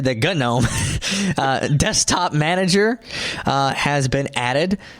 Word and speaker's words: GNOME: some people pronounce that genome and some people pronounce it no I know it's pronounced no yeah G is silent yeah well some people